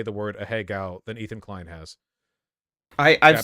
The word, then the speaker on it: Ahegao: I have to assume that I've, in my lifetime, probably heard more people say the word Ahegao than Ethan Klein has. I've said a Japanese person here, Higo. you're pronouncing it fine.